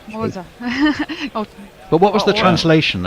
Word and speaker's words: Xhosa: Pronouncing that right. I think it's Xhosa.